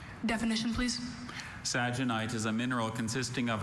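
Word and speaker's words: sagenite: Saginite is a mineral consisting of an acicular rutile that occurs in reticulated forms and is often embedded in quartz or other minerals.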